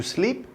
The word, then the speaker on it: sleep: c'est en fait to sleep ça veut dire dormir et to sleep ça veut dire glisser donc to sleep c'est s l e e P donc de on voit que ça se prononce i ça veut dire to